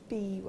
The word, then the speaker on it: biwa: How do you pronounce that? Biwa? Biwa.